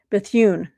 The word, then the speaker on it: Bethune: Mary McLeod McLeod Bethune.